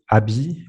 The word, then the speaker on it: ABBYY: And they were using a company called ABBY. I don't know the English pronunciation for that, ABBYY.